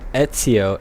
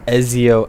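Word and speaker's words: Ezio: a video and they kept pronouncing Etso as eziio Alor and I was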